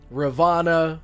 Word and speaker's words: Ravana: So, like, Rama, Ravana, Vamana, I've heard their names pronounced as Ram, Vaman, or Vaman, Ravan. So I just assumed that a lot of the characters in, like, Indian mythology and gods and stuff, you normally don't pronounce the A at the end.